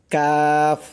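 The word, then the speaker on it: قاف: number মাখরাজ পাঁচ number মাখরাজ হচ্ছে জিহ্বার গোড়া হইতে একটু আগে তার বরাবর উপরে তালুর সঙ্গে লাগাইয়া উচ্চারিত হয় কাফ কাফ শক্ত করে কাফ উচ্চারণটা করতে হবে শক্ত করে কাফ আবার খেয়াল করবেন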